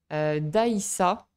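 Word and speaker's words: dgħajsa: Une autre activité intéressante à faire est de faire un tour en Daïssa. Alors, finalement, ça se prononce comme ça.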